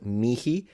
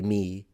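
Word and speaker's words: mihi: This in classical Latin can be pronounced mi with an actual aspirated h. Or you can just say me.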